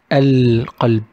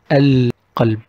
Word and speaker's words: القلب: Well, it is again one of the alphabets of ال القمرية, the lunar ال, and we pronounce it القلب. القلب.